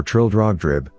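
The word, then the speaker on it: Trildrogdrib: tr drag Dube or Trill drog drib for it is pronounced both ways as near as I can remember by a party of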